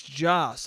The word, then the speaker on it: Joss: what and they go his name's joss i go oh yeah and then guess what i do the next time i say his name i say josh again not even on purpose just because in my brain i go joss isn't a name it's josh okay so